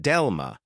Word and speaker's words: DeLLMa: The paper is called Delma and they pronounce it like the word dilemma.